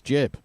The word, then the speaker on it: gib: uh John Romero clarifies how to pronounce jibb it's pronounced jib because it comes from giblet so there you go